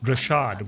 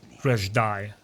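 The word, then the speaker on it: Dreshdae: It's a Sith Academy just outside the Rashad, where they train their students and such. Reshdai. Sorry guys, I mispronounced it. Reshdai. Make sure I get it right next time.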